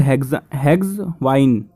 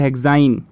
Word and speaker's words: hexyne: ठीक है बच्चों, प्रोनाउंसिएशन भी ठीक नहीं है लेकिन ये स्पेलिंग ठीक है, HEXYNE से बोलते हैं ना, प्रोपाइन, मिथाइन, ब्यूटाइन, इसे हेक्साइन।